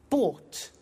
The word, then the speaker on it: bought: So listen carefully to the pronunciation by bought. You notice that o u g h t is pronounced ought.